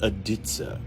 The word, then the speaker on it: dizi: this instrument right here is called aditsa it's spelled d-i-z-i it's a Chinese simple